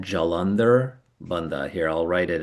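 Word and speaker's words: Jalandhara: in the in the chat, but it's uh Jalander is J A L A N D H A R. Jalander. Jalandar Bandha B A N D H A.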